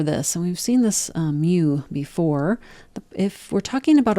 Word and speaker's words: mu: different symbols for this and we've seen this mu before if we're talking about a population then we use this Greek letter mu which is spelled m u and it's pronounced mu like a cat say